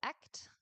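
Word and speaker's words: Ek't: also has a title act, but in a forance. So maybe I should just say a word about the title. So it's it's two words uh that are pronounced exactly the same.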